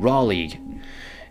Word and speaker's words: Raleigh: somewhere i think you should consider living in raleigh and yeah for all your uneducated folks this is how to spell it r a l e i g h